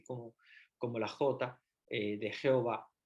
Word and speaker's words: Jehová: español empezaron a llamar Jehová porque era mucho más fácil llamarle Jehová la W como una B la H como en español no la pronunciamos no la pronuncian y